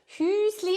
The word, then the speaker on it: Hüsli: Hüsli is the small version of whose. Whose, when you use the small version, you add the two dots on top and then you pronounce it Hüsli.